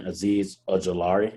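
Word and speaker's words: Azeez Ojulari: at 30 we got the buffalo bills taking aziz ajilari that's how you say his name yes that's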